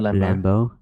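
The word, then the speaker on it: Lambeau: That's how you pronounce his last name. Jared Lambo.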